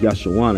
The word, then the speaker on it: Jeshurun: Fear not, O Jacob, my servant, and thou Jeshurun, whom I have chosen. Now the word Jeshurun means upright, and it's pronounced Yashawan in the ancient Hebrew.